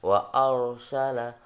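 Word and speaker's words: وَأَرْسَلَ: Maka dibaca tebal ro-nya itu, ro matinya. Bacanya bagaimana? Wa arsala, duduk bukan wa arsala, tapi wa arsala, wa arsala. Nah, dibaca tebal.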